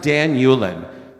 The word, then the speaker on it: Dan Ulin: okay all right so my name is pronounced Dan Yulan Nick can you take